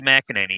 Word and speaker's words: McInerney: that at some point how do you say your last name mcinerney as far as i know mac and any yeah yeah that's what